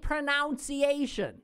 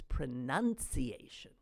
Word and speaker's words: pronunciation: Because it ain't pronunciation, okay? It bothered me. I just had to get it off my chest. That is not the proper way of verbally uttering those words. That word. It's pronunciation.